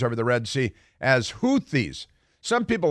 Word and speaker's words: Houthi: So Houthis, I say Houthi. If you want, you're going to put TH in there, I'm pronouncing it like Houthi, because that's a good.